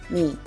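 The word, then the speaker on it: 미: So whenever you just want to pronounce this, it just sounds like the me in English. So this is pronounced me, me, and it is placed to the right of the first consonant, as you can see.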